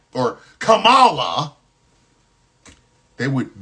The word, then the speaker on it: Kamala: Their guy won against that Kamala or Kamala. They would mispronounce her name on purpose.